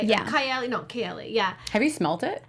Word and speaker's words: Kayali: Kayali.